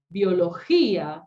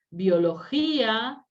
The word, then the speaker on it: biología: Biología, ¿sí? Es aguda, ¿sí? Y tiene la I tónica, ¿sí? Biología, separa la sílaba y acentúa, ¿sí?